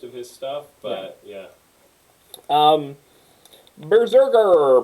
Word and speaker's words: BRZRKR: Berserker. Berserker. If you you can't pronounce that word without a vowel. Berserker. So. It's like this. They did this for SEO's sake. It's BRZRKR, and it just looks like